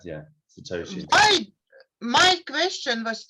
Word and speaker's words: satoshi: million bitcoin created one bitcoin is 100 million satoshi yeah yeah i hope i pronounce right that's correct yeah satoshi i my question was right away when i